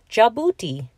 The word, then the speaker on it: Djibouti: D is for Djibouti. The boat race begins when the handsome judge from Djibouti drops his handkerchief from the bridge.